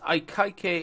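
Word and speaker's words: Akaike: see a I see is I KY k information criterion I believe that's how you pronounce it AIC it's very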